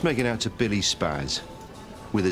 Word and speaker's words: Spaz: Just make it out to Billy Spaz, with a Z. Your name is Billy Spaz. Yeah, it's not like it's hard to remember. Old German Jewish name. Yeah. Should really be pronounced Spaz.